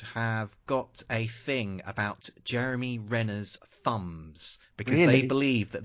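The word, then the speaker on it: Renner: r there too many RS in there Jeremy Jeremy Rena Jeremy Rena jery Rena Jeremy Rena I said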